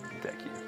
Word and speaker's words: Deku: being turned into the Deku scrub. Also, I'm gonna put this out there. I pronounce it Deku, like hard E, Deku, not Deku or Deku.